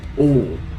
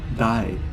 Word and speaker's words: 大: It can be pronounced like oh, die, tai.